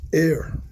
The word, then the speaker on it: Er: The two brothers who died in this chapter, Er and Onan. Okay. Yeah. Who died first? Odin? Er. Er? Yep. E-R. E-R. Yes. U-R-E. E-R. Mm. That's how it's pronounced. Like error.